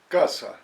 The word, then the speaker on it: casa: Por ejemplo, when the letter C is in front of the vowel A, it sounds like the English K. K, casa.